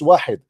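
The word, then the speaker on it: واحد: You do not even know how to say it is not wahid, it's wahid.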